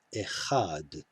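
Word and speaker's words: אֶחָד: het and hay so here we do actually have a closed syllable and a closed syllable had because this long kamatsu is in a closed syllable it must get the accent echad these two dots mark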